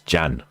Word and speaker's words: Jan: And he says, I've still got John Blabber's name wrong because he says it's with an A. Oh, it's Jan. Jan Blabber.